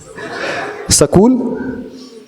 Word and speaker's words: स्कूल: स्कूल, स्कूल। हाँ, तो ई लग जाता है उसके, ई लग जाता है, तो ई को साइलेंट कर लेना है। ई का उच्चारण ना होने पर स्कूल, स्तोष्ये।